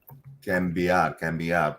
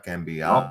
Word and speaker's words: cambiar: Cambiar. Para cambiar. No, listen. The vowel is important. Sí. It's not cambiar. It's cambiar.